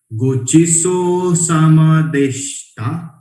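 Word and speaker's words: ごちそうさまでした: Deshita will pronounce deshta. Deshita will be deshta. Itadakimasu. Gochiso sama deshta.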